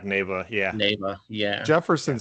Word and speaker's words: Neva: So it's Neva. Neva. Yeah, so it's basically heaven spelled backwards.